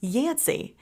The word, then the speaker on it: Yancy: about how she became yansy it kind of rhymes with Nancy doesn't it well that's